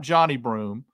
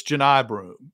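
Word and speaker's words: Johni Broome: read pron pronunciation guys it's not Johnny broom it's Janai broom and so I think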